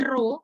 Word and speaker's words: rho: H0 sama dengan rho, ini kayak P, seperti huruf P tapi miring ya, bacanya rho.